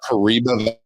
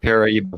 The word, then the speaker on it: Paraíba: So we're in Taubaté, Brazil, but it's easy to say the Paraíba Valley. The Paraíba Valley? Yeah, Paraíba Valley. Paraíba Valley. In Portuguese, it would be Vale do Paraíba.